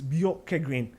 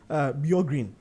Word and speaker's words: Bjorkegren: just say Kim, but the right word is Bjorkegren, because some calls him Bjorgren.